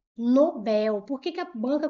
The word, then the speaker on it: Nobel: As pessoas falam Nobel, prêmio Nobel. Não é prêmio Nobel, é prêmio Nobel. Nobel, a sílaba tônica é a última. Ela é uma palavra coxítona, tá gente? Não é palavra paroxítona, ela é oxítona.